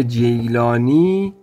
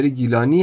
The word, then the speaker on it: گیلانی: می‌شناسند به نام عبدالقادر جیلانی که در اصل این جیلانی نیست چون عزیزان عرب این گ رو ندارن گرو ج تلفظ میکنه نرگس و نرجس به خاطر همین این